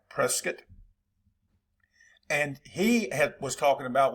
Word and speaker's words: Prescott: And I said it right, Prescott.